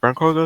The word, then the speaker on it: Clargos: Baron Clargos, is that how you say it? Yep.